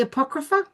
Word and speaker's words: Apocrypha: Is it the Apocrypha?